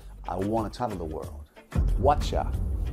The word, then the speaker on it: whatcha: Whatcha, viene de what you. El you, muchas veces al pronunciarlo se queda como una what ya. Ese you se convierte en ya. Y aquí lo hemos exagerado y lo ponen como CHA. Es decir, whatcha es what you, lo que venga.